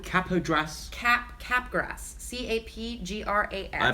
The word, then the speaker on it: Capgras: CAPGRAS. I pronounce it Capgras.